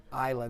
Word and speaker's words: Isla: Isla, that's how you pronounce the daughter's name, even though it says, it looks like Isla.